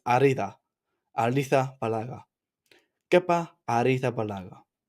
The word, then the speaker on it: Arrizabalaga: It's not Ariza. It's Arida.